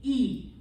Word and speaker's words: y: Clase, please repeat, E. E. Like you're saying the letter E, or two E's together, like meet, greet, feet, okay?